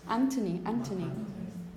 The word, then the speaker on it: Anthony: Just because, no, it's Anthony.